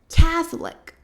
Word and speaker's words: Catholic: Porque muita gente acaba falando catholic, porque de novo tem ali uma questão se comparado com o português, porque a gente fala católico, então a segunda sílaba ali seria a mais forte. E a gente tende a fazer isso no inglês também. E aí a gente fala catholic, catholic.